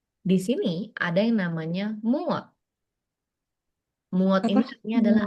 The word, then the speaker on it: 무엇: Berarti kamunya nggak usah dipakai ya, langsung berarti apanya muot ditambahin partikel e, terus pakai kata tanya. Muat. Mau mon mon mon sim dah. Moksem nikah. Moksim nikah. Mhm. Ini bacanya muot, kalau mereka berdua doang muot.